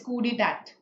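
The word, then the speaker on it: coup d'état: The full word is coup d'etat. Okay, cool. And I think the T is silent.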